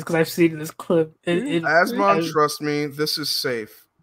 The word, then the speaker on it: Asmongold: So it's Asmon. So his name sounds like a goddamn freaking breathing condition. Yes, it sounds like asthma, which I have.